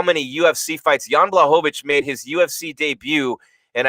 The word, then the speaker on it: Blachowicz: The main event next week, the light heavyweight champion, Jan Blachowicz.